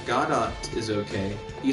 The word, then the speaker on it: Godot: And then Bolt says, pronounced Godot. Like the Wonder Woman actress? Gal Gadot.